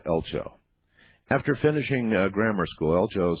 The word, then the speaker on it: Eltjo: It's spelled E L TJ O, but pronounced uh, Elcho.